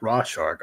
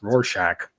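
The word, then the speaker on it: Rorschach: it's supposed to be it's not RW shark obviously it's RoR Shack from Watchmen and Omar mispronounced and said RW shark so the face that Jess and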